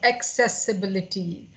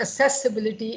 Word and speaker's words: accessibility: into the pronunciation of accessibility. You know, I start doubting my own pronunciation, and then I immediately checked on the Google. It is not accessibility, it is AC, then CES. Accessibility.